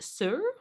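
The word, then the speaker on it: Saor: like um so so I guess it's actually pronounced sir sir um and it means free and unconstrained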